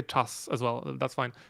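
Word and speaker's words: czas: Your vowel is too closed. Chas. You're too far back in the mouth.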